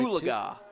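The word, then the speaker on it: Oologah: Ulaga. That's how you say it.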